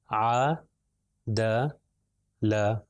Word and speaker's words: عدل: ہے ع د ل، اگر الگ الگ کر کے پڑھیں گے تو ہوگا ع لمبا، اگر زیادہ لمبا کروں گا تو غلط ہے، تھوڑا سا لمبا کرنا ہے، ع د ل، عدل، عدل۔ پھر اگلی مثال ہے